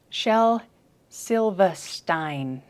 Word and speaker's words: Shel Silverstein: i got it stein i just found a british pronunciation of his name with the which is shel silva stein shel silverstein see now that's going to